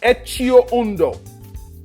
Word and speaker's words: Etxeondo: It's pronounced Etio Uno.